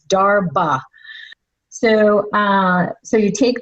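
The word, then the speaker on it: darbha: you can look up the grass d h a r b h a sometimes it's spelled like that or d a r b h a dharma not durava like as in ganesha grass it's darba so uh so you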